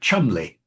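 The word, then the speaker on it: Cholmondeley: like um it looks like Cholondly is actually pronounced chumly, you know, and there are so many examples of a proper name not being pronounced.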